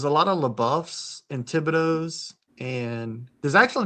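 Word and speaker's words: Thibodaux: So Tibido is like I think Tibido's to the south of us. I I think it would have to be. Yeah. And so that's pronounced Tibido. That's how like a normal person would pronounce it, but from my area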